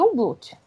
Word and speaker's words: Jungblut: Se escreve Jungblut, só que não se fala pronunciar o J, né? O I no lugar do J, e não pronuncia o G. Então fica aí um Blut.